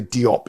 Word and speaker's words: Diop: scholar from senagal Shay can we say Diop in English but I think it's pronounced jop in French um he died and